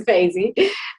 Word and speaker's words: Feyzi: a little bit about yourself and have i butchered your name no it's faizy i am also a lecturer at goldsmiths working